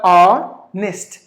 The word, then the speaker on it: honest: The letter H is silent and the letter I is given like the I as in fit. So honest.